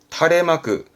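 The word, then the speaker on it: 垂れ幕: 숫자는 수직의 숫자인데 드릴 숫자라서 길게 드리운 마귀다니면서 발음은 다래마크 다레마그 우리가 말하는 현수막 있죠 현수막을 탈의 마크합니다 현수막의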